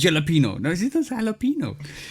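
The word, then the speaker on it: jalapeño: No, she does jalapeno. Say it like it's supposed to be said. Like She's saying it wrong too? Because she ain't saying the yo at the end.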